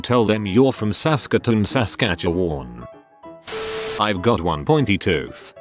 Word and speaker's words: Saskatchewan: from a place called Saskatchewan it's not actually hard to pronounce just like it's spelled but if you haven't